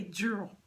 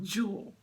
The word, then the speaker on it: Jewel: And we call her by her last name, Jewel, but we say Jewel, but it's pronounced Jewel, okay? As in a diamond, that's right, jewels, okay?